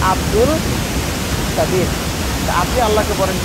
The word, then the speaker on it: কাদির: মানুষকে কাদির বলা যায় না, মানুষের নাম কাদের আছে না, তো শুদ্ধ উচ্চারণ হলো আরবিতে কাদির।